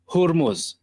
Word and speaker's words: Hormuz: And simultaneously, two oil tankers caught fire in the straight of Hormuz.